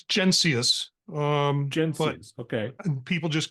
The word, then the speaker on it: Mencius: guest Marty I think your last name is pronounced jenus is that correct yeah it's genus umus okay people just